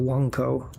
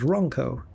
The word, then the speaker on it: Ronco: Even if I have to go to Wanco, which is how Jonathan Ross pronounces Ronco.